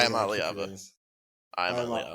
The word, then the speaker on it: Iamaleava: Iamaleava.